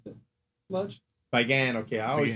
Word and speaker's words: Bagan: Matter of fact, it reminded me of I say Bagon. You pronounce it different. You said Bagon? Is that Bagan. How you pronounce it? Sludge? Bagan.